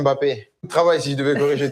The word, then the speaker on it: Mbappé: Il y a énormément de Français qui vous appellent Kylian Mbappé. Est-ce que c'est comme ça qu'il faut prononcer? Non, non, mais voilà. bon, j'aurais beaucoup de travail si je devais corriger tout le monde. C'est Kylian Mbappé.